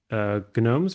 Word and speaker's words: GNOME: Since GNU is GNOME's first name, GNOME is officially pronounced GNOME.